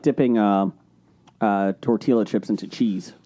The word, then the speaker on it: tortilla: I also like dipping tortilla chips into cheese. You don't pronounce the L in tortilla.